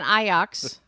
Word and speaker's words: Ajax: cleanser much better and I was not an eye ox which is how you're supposed to pronounce an IRS fan I